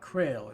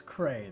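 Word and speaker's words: Creil: So it's not Krail, it's Cray. The L is silent.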